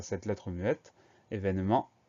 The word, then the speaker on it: événement: Alors, premier son, le son E va s'écrire E accent aigu. Deuxième syllabe, V va s'écrire V, E accent aigu. Ensuite, ne, N-E. Et ment à la fin du mot, M-E-N-T. Ça veut dire qu'on a une lettre muette, le T à la fin, qu'il va falloir retenir.